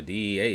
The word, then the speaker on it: DEA: Bro, the DEA is fire in Spanish. You just say it the way it's spelled. DEA.